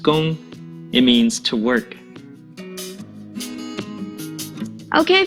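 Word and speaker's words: 工: another one right there this character is pronounced gong it means to work okay for the last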